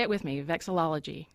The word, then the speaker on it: vexillology: was a good guy say it with me vexillology vexillology study of flags man you nailed it it